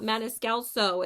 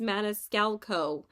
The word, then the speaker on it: Maniscalco: wrong and I'm like it's not manelo it's Mana scalco there's no extra s but anyway look how